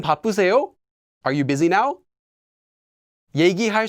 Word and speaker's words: 얘기: 얘기할 수 있으세요? Can you talk now? Notice that although I've written 이야기, most of the time this will just be pronounced and written as 얘기.